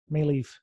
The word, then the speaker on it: Maleeff: Oh, maybe it's a different Tracy Maleeff. Maleeff. You're accenting the wrong syllable.